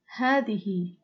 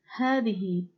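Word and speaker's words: هذه: for feminine is called hadihi hadihi hadihi is also pronounced as hadi but written as the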